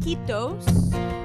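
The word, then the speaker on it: kiitos: of these go Finland in Finland they say keep those remember it rhymes with mosquitoes if the Mandarin is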